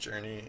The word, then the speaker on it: jrne: given time and so the game Jr NE pronounced journey is uh it's basically